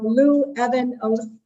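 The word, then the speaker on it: Luevanos: So just imagine the Evan in the middle, and then Lou Evan Oath, Lou Evan Oath.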